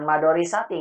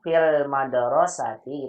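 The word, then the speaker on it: في المدرسة: fil madorisati Bukan madorisati, nggak ada madorisati. Apa? mudorisati Madrasati. fil madorisati Iya, daknya itu fusulun daknya kabirotun. sebentar Ibu, sebentar, pelan-pelan Ibu ya. Ya. Daknya disukunkan Ibu bacanya ya. Fil madrasati gitu.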